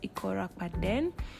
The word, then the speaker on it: Akwa: On today's vlog, I'll be taking you guys on my trip to Akwa Ibom, Akwa, but it's pronounced as Akwa.